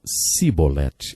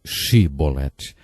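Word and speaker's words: chibolete: regiões do nosso país eles não conseguiam pronunciar o som ch e por isso diziam se bolette ao invés de che bolette jefté degolou 42 mil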